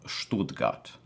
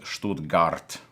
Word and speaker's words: Stuttgart: to archbishop agapit of stool gut I believe that is how you pronounce it I apologize to our German viewers if I mispronounce that but I'm just the guy from New Jersey so to me it was always Stuttgart but according to the internet that's not how you say it so I apologize but